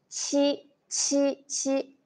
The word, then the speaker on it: 七: 鸡，鸡，鸡，七，七，七。OK, when you pronounce 七，七，七， there is a strong airflow.